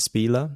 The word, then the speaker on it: Spieler: So changing course a little bit here, wanted to ask about your agent, who is Lauren, is it Spieler, as they pronounce it?